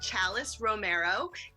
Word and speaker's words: Chalis Romero: want to say thank you so much to chalis Romero did I pronounce that correctly yes yay here today she